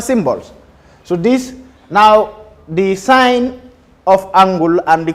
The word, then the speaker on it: sine: So fundamental trig ratios are sine, which is abbreviated as SIN, pronounced sine, SIGN.